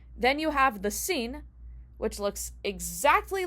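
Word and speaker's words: שׂ: And that is a sign that it's actually a sin, and it's pronounced with the s sound, just like the samech.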